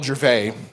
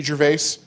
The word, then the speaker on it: Gervais: of Kentucky named Will Gervais. And it's spelled Gervais, like Ricky Gervais. But his name is Will Gervais.